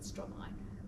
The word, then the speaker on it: Stromae: She actually said Stromae, but I'm doing the French Belgian pronunciation, and she said, "Stromae's over there."